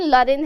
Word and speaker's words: Lorraine: लॉरेन भी बोलते हैं, लॉरेन। ठीक है, प्रोनाउंसिएशन मैटर्स अ लॉट, तो सही प्रोनाउंसिएशन लॉरेन है यहाँ पर गूगल बाबा के हिसाब से। ठीक है, हमारा आई गेस ब्रिटिश या फिर अमेरिकन एक्सेंट है जिसमें लॉरेन बोलते हैं।